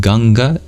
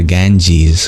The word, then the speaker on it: Ganga: 26th chapter is called ganga is ganga if you don't know ganga or uh also known as the Ganges which is not how you pronounce the original Sanskrit is a holy River